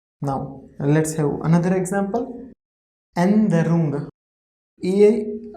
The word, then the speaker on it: Änderung: Änderung. A like A mit umlaut is A, no is like no, DE. See here we are skipping pronunciation of E as exception.